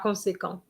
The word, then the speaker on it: conséquent: Okay, it is true that when it's ENT, we don't pronounce it, but that is when it is a verb, okay? Par conséquent means consequently.